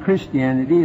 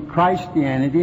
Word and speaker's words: Christianity: it's Christ in you I'm sorry we ever use the wrong pronunciation and called it Christianity it ought to be Christianity and a Christian ought to be a Christian because that's what we are and the Ian stands for I am nothing if you ever